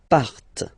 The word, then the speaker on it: partent: Okay, and the last persons, il, elle, partent. Remember, classic ending, ENT, but then you don't pronounce them, partent, partent.